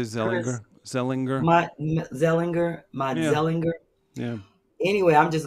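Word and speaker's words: Matzeliger: it's m-a-t-z-e-l-i-g-e-r so i'm it's german and dutch mott zellinger you think that's zellinger i would say zeliger sellinger yeah anyway i'm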